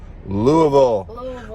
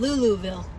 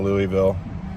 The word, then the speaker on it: Louisville: that it's louisville louisville louisville abbey was saying luluville lulaville and mama sang louis and and mom was like dad she was just saying louisville because we're weird like that we're from the